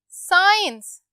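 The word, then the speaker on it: science: Okay, उसके बाद साइंस, साइंस, इसमें भी कौन सा वर्ड साइलेंट आ रहा है, एग्जैक्टली सी, साइंस, साइंस।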